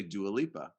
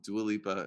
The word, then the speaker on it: Dua Lipa: i said i said just don't say do aleppa and you're like what is that what's that i still don't know okay um dua lipa is a singer oh